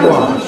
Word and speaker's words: gouache: Just ask you about, how do you pronounce it? Gouache? Gouache, yes.